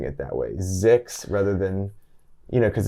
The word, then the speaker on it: ZYX: zyx and we pronounced zix it's the alphabet backwards just pronounced as a word yeah it's it's just